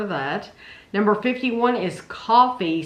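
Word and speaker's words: Coffy: Number 51 is Coffee, spelled C-O-F-F-Y. And that's 1973. It's coffee spelled with a Y.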